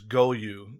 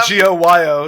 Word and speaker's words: Goyo: Is Goyu? Is that how you pronounce it? Goyu? Yeah, I think it was because I read that as like Goyo. Yeah, Goyo.